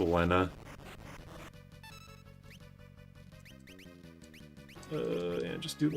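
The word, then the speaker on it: Lenna: Wait, this is Lena or Lena? Lena. Pretty sure it's pronounced supposed to be pronounced Lena.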